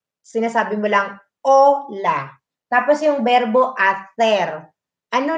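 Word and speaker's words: hola: Kasi, di ba, yung ola, hindi mo naman pinapronounce ang ache. Sinasabi mo lang, ola.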